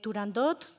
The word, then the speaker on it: Turandot: la ópera perfecto, dice Turandot y no como lo pronunciamos los ingleses. Pucini fue claro. La t al final de la palabra no debería pronunciarse.